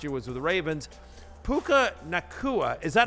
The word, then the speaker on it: Puka Nacua: Puka Nacua, is that how I say his name, Connor?